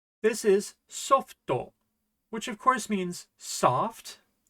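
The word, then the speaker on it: ソフト: How is this pronounced? This is softo, which of course means soft, but you can also use it for software, like software for your computer.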